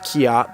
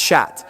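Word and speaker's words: kyat: up until now the national currency is not pronounced kkeok the way it's spelt it's pronounced shat longi is supposed to be pronounced Longy which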